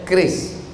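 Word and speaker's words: QRIS: Curis. Cara bacanya keris.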